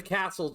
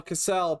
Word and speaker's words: Cassel: That's the castle. Well, Cassell, but it's spelled Cassel in with the Cassell twins.